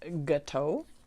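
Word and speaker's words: gâteau: Is that gateau? Gateau. I know it's an O at the end. That's a French word.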